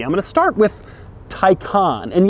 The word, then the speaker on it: Taycan: going to start with taikan and yes that is how you say it taikan and not taekon which is odd because